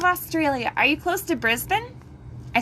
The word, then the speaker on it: Brisbane: are you close to brisbane i said that right didn't i it's not brisbane it's brisbane when i was there and